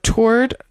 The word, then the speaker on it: toward: So toward sounds like lord.